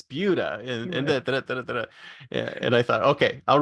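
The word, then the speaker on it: Buda: four or five different places like do not pronounce it Buddha it's bua and I thought okay I'll remember that I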